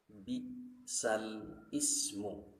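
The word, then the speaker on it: بِئْسَ الِاسْمُ: Ada kalimat bi'sal ismu, maka harus dibaca naql bi'sal ismu, itu disebut naqlul harakat.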